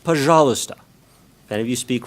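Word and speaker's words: пожалуйста: along the way that the Russian word for please when you're asking for something is pronounced pahala stop that if you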